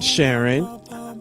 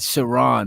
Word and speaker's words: Sharon: Her name is not Sharon. It's Sharon.